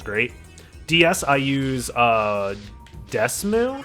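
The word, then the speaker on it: DeSmuME: DS I use uh Desmoo I think is how it's pronounced, but it's D E S M U.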